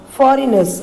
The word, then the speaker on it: foreigners: Now we have become slaves for foreigners, F-O-R-E-N-G-N-E-R-S. G is silent, children, so it should be pronounced as foreigners.